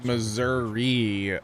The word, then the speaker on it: Missouri: Louisville Louisville uh jhawk it is Missouri if you're north of the Missouri River it's Missour if you're south of the south of the Missouri River I live North so it's Missouri or maybe I live